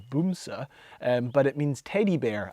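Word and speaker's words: Bamse: vehicles ever it's called bamsi um in case anyone wondered b-a-m-s-e um actually I think the Norwegian pronunciation is boomsa but it means teddy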